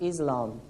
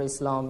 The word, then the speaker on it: Islam: to be more accurate we prefer the pronunciation of s for islam rather than islam because for muslims there